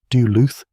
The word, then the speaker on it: Duluth: Duluth, Doo-looth.